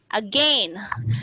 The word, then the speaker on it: again: the other one mom some people would pronounce again as this one using the diphthong a i n again again again because that is uh uh the pronunciation in uh british english for example so they you pronounce